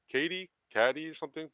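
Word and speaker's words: Cady: the lead K Katie caddy or something they call they call it's Katie but it's spelled c a d y yeah uh so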